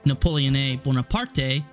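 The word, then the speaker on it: Napoleone Buonaparte: up dissolving into a military dictatorship led by napoleon bonaparte which fun fact his name is actually pronounced napoleone buena parte his regime kept many of the enlightened principles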